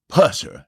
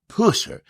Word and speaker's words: Pusser: We are going to pronounce his name Buford Pusser, not Pusser. If you look at some of the stuff, the new stuff, today they say Pusser.